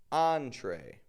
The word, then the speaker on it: entree: Entree. We give it that French on and then tray, the kind of American sound.